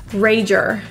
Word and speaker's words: rager: five of us there this word has two r's in it which is kind of difficult for many people so when you get to the ER sounds curl the tip of your tongue and feel how it's not really touching the roof the tip of